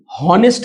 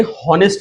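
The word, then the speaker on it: honest: ईमानदार का ऑनेस्ट ध्यान दें इसे ऑनेस्ट नहीं पढ़ेंगे। एच को साइलेंट रखेंगे। प्रोनंसिएशन के लिए उच्चारण के लिए बाद में या साथ में थोड़ा-थोड़ा बताते चलेंगे। तो यहां ऑनेस्ट नहीं ऑनेस्ट पढ़ेंगे। होनेस्ट नहीं पढ़ेंगे। H will be silent.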